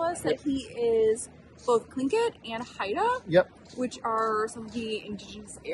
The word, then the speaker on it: Tlingit: So it's Tlingit. Tlingit.